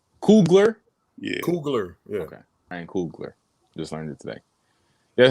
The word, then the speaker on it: Coogler: Ryan Coogler.